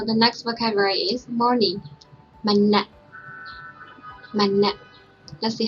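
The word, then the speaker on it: မနက်: So the first one is ma alphabet and second one is na and a. So we pronounce na. Altogether, manna. So in this case, when you see this dash, you have to pronounce continuously. So that's why we don't pronounce manna, we just pronounce manna.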